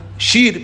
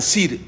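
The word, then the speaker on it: שִׁיר: Por ejemplo, Shelomó decían Selomó. ¿Sí? Shir, por ejemplo, canto, decían Sir.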